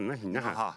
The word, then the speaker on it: Naha: Thank you, and please take that on behalf of Naha. I think it is. Can you pronounce it? Naha.